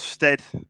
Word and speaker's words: Stead: the same time so my name is stead uh everyone pronounces his steed so i'm going to